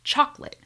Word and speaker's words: chocolate: The word chocolate, chocolate. Notice that this word has two syllables.